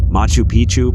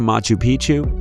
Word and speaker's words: Machu Picchu: Four, Machu Picchu, Peru. When a place rhymes with picture, you can almost bet it will always give breathtaking images every time.